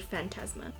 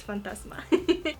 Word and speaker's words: Phantasma: penumbra and the nude phantasma why did i just say it like that it's fantasma i'm placing that bone